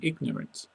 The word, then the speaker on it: ignorant: Accidental, accident, sound the G in ignorant.